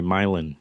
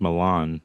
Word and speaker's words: Milan: They call Mil the town um nearby Milin near Red Hook, which is of course spelled like Milan.